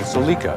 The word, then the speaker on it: Celica: Yes, it's pronounced Celica. I watched the product training. First, let's examine the four-cylinder. It's the same basic motor powering Celica and MR2, making it one of the most